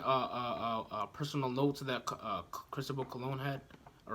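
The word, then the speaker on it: Cristóbal Colón: right there's even a personal notes of that Cristobal cologne hat all right that's how you pronounce his name all right well he couldn't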